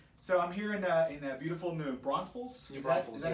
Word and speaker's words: New Braunfels: So I'm here in beautiful New Braunfels.